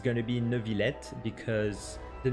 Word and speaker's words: Neuvillette: So a lot of people are wondering if we pronounce it Neuvillette or Neuvillette. In this case, it's going to be Neuvillette.